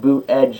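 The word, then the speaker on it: Buttigieg: the line every record it's pronounced boot edge and Chicago's Twitter boot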